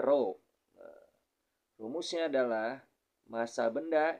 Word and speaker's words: rho: atau centm k kemudian rho ya ini dibacanya rho adalah Massa jenis benda